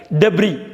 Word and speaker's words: debris: DEBRIS எப்படி உச்சரிப்பீங்க? உங்கள் மைண்டுக்குள்ளே ஒரு டெப்ரிஸ்ன்னு உச்சரிக்கணும்னு, அப்படி உச்சரிக்கக்கூடாது. டெப்ரி, DEBRIS silent. டெப்ரி, டெப்ரின்னா வேஸ்ட்டுன்னு அர்த்தம். டெப்ரி அப்படின்னு தான் உச்சரிக்கணும், எஸ் சைலண்ட்.